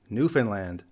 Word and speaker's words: Newfoundland: by the Canadians themselves it's actually Newfoundland the emphasis is at the land at the end and similarly to go